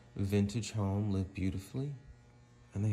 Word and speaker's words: VNTG: So this is this really cool place called Vintage, and it's spelled VNTG.